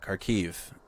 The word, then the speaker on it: Kharkiv: or keiv i got to say it right karkiv russian airstrike in kharkiv we watched this a little earlier but they